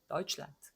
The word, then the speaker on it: Deutschland: 요 네는 당연히 유성음으로 발음을 하죠. 근데 요 네는 단어 맨 끝에 나오니까 느 이렇게 안 된단 말이죠. 란드 이렇게 안 돼. 그러니까 무성음으로 그냥 차내듯이 란트 이렇게 한번 혀로 차버리는 그런 발음이 되는 거죠.